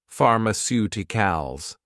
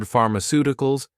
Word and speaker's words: pharmaceuticals: In the word pharmaceuticals, you may already know that PH in English has a F sound and that the letter C can have a S sound, often before the letter I or E, or a K sound. Also, if you know the word pharmacy, you already know how to say the first half of pharmaceuticals.